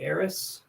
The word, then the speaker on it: Eris: But if the P is silent, maybe Eris.